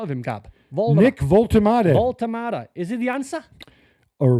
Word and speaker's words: Woltemade: How do you pronounce this boy's name? I've not seen a lot of him, Gab. Nick Woltemade. Woltemade.